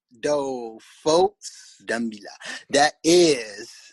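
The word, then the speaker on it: Dumela: Dumila. Do, folks. Dumila.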